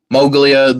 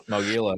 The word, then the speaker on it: Mogila: Uh I'm pretty sure I butchered that. And then u Mogulia, the the Orthodox confession. Mogila.